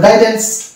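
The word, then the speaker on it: guidance: তো এখানেও দেখতে পেলাম কি ইউ এর আগে আছে জি, পরে আছে ভাইল, ওই জন্য ইউ এখানে সাইলেন্ট। এটা হয়ে গেল গাইডেন্স।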